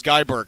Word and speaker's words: Guy Berger: is Uh, Gibber, we guess how his name is pronounced every day and I I found I found it out because I finally listened to a podcast with him on it and it was Guy Ber.